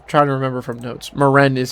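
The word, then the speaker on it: Maren: Moren is how you say his name. It is Moren.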